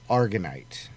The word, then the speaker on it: aragonite: It's aragonite. Aragonite. It's A, not E, A.